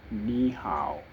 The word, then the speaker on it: 你好: Hello is ni hao.